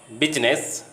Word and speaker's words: business: Silent I in English words most of the time is pronounced, but in the word business, I remains silent.